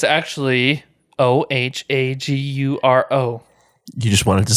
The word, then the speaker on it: Ohaguro: For all those that want to know, it's actually Ohaguro. You just wanted to spell it.